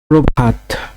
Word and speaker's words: প্রভাত: প্রভাত। প্রভাত এর উচ্চারণ করতে গেলে হবে পয়রফলা ওকার ভয়াকার তয় রেফ তয় হসন্ত। প্রভাত উচ্চারণটি এরকম হবে। পক্ষ।